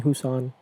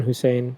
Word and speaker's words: Hussain: be racist I mean everybody calls me Hussan dude I I never understood it it's it's a pretty simple like I understand there's a lot of like Arabic derived names that are hard to pronounce right but there's no hard letters in Hussein there's no weird you know consonants next to each other or anything it's h-u-s-s-a-i-n I never understood how